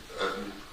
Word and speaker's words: Utton: My name is Utton. Last name is spelled U T O N is just like button, but there's no B.